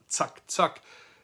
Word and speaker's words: zack, zack: This German expression, which is pronounced zack, zack, is used when you want things to be